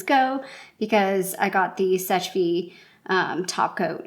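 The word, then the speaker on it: Seche Vite: And the reason why I'm okay decluttering this is I did finally pick up a Sech-Fi, and that's how you pronounce it, fast drying top coat.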